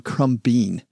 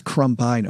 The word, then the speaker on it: Crumbine: I called him Crumbean. It's Crumbine, OG.